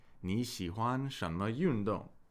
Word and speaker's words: 你喜欢什么运动: And when two third tones are back to back, we typically pronounce the first of the pair as a second tone. So this is pronounced 你喜欢什么运动? 你 means you, 喜欢 means to like, 什么 means what.